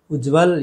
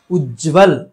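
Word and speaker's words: उज्ज्वल: उज्जवल ये गलत है। उज्जवल, ज दोनों आधे और व के साथ मिला हुआ, उच्चारण क्या होना चाहिए? उज्जवल, उज्जवल ये सही है।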